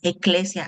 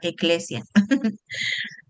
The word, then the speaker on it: ekklesia: Es el vocablo griego neotestamentaria para describir iglesias, eclesia. Ahí está una palabra en griego, para que ahí van aprendiendo. Escriban en su cuadernito donde tienen griego y hebreo. Aquí va eclesia.